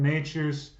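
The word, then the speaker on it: Nečas: Martin Natures Natures again his name is difficult to pronounce so it's Martin Natures I pronounced it like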